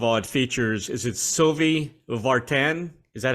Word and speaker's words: Sylvie Vartan: First of all, it features, is it Sylvie Vartan? Is that how you pronounce it?